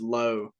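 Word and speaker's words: Lowe: I mean, I love it's and I know there's like 14 different pronunciations just in the majors of that last name. He is Low.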